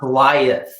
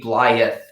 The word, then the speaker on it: Blyth: Blyth, or is it Blyth? This is a tough one. I'm going to refer to the Blyth local. I say Blyth. It's Blyth. Definitely not Blyth.